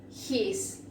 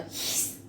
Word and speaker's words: his: your, then we have his, como hace el gato, his, bueno así, his, then we have her,